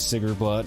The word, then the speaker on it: Sigrblot: Mainly the, developer's pronunciation of it, which was Sigrblot, so I assume that